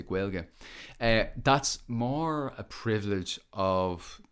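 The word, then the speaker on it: Gaeilge: irish speaking uh quail quelge really is how we pronounce it here we don't say gaelic or or irish or anything like that we say guelga that's more a privilege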